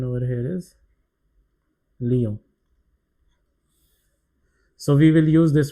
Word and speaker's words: Lyon: Pronunciation over here is Lyon.